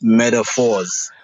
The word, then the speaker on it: Medaphorz: on my end it's metaphors sorry carry on yeah yeah no I was about to say that um most people pronounce it with a t but I spell it with a d as in years because